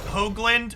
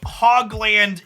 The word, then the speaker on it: Hoagland: that is confusing chat my last name is pronounced Hoagland with a long o I say hogland in a self-deprecating way